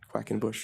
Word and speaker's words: Quackenbush: uh my whole life it says it's it's spelled like it sounds as a matter of fact Quackenbush you were okay a